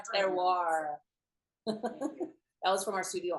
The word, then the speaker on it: terroir: For those of you wondering how to say this, it's terroir.